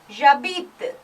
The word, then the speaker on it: j'habite: But as you saw, habiter starts with a H, which is muet. Muet means you don't pronounce the H. It is a. So this becomes, it's treated as a vowel, J apostrophe. J'habite.